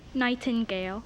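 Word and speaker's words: nightingale: the round will be night Andale night Andale am I saying it correctly say it again night Andale yes n i g h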